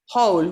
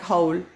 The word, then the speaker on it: whole: you know sounds like whole we we watched this for the last class yes it's called uh without the w exactly same pronunciation whole and whole okay because this is a silent w now our how do